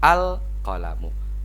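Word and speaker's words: القلم: hantu enggak usah bingung namun tetap cara membacanya adalah harus dibaca alqolamu a Hai babu alwaladul almudarrisu seperti itu ya Meskipun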